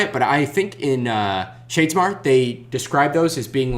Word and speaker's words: Shadesmar: Like when I say Shardsmere, you're supposed to say Shardsmore. Shadomir. Shadesmar.